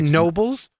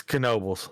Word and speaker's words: Knoebels: feel like it is wouldn't it just be Nobles no it's Knoebels I don't think so I'm been there four